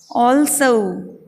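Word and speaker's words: also: अब इसका सही उच्चारण देखते हैं अपन। ऑल्सो, ये ओ लंबा, ये ल, ये स, उसके बाद में ए का चिन्ह, और ये छोटे ऊ का, तो ऑल्सो।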